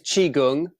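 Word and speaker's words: Qigong: that important is it but it is chiung um Chi like Tai Chi it's the other side of Tai Chi so Tai Chi is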